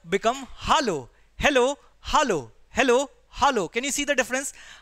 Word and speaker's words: hallo: In German it become hallo. Hello become hallo. Hello, hallo. Hello, hallo.